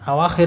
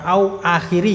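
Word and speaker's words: أواخر: tagyir perubahan awakhiri ya awakhir itu jamak dari akhir jamak dari akhirah artinya akhiran-akhiran awakiri itu bukan au bukan au akhiri ya itu bacanya bukan au akhiri tapi ini awakhir awakhir itu satu kata dia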